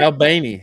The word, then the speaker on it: Albany: Albany, I think is how you say it. Is that how they say it out here? Albany.